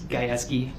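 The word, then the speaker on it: Gajewski: It's Geski. G A J E W S K I.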